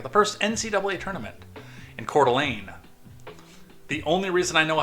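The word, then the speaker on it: Coeur d'Alene: after arriving at the first NCAA tournament in cordelane the only reason I know how to pronounce that is because of Beauty in the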